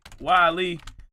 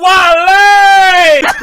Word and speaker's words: Wale: this stuff, I'm like, man, let me see, Wale. I was trying to find out everything about the thing that's going on by Wale. And everything that was saying, wait. Why? Oh, Wale!